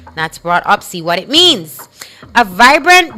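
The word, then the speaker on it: broughtupsy: Anyway, broadupsy. It is spelled B R O U G H T U P S Y. That's broadsy.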